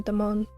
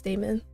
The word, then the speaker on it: Damon: And this whole time I've been calling him Don, but apparently it's Damon.